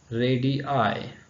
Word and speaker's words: radii: have a radius and radii so how to remember this uh radii so for example we have iphone and you have like that so ready i so i should be pronounced separately and radius radii then